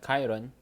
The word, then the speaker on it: Chiron: car which was a Bugatti Chiron or Bugatti Chiron if pronounced correctly is which is a